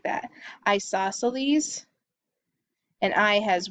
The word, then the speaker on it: isosceles: That's how you pronounce that, isosceles, and there are two equal sides.